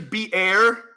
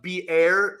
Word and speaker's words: Beer: that is why the well uh was called beer High Roy yeah uh it's actually be air but no one says that it looks like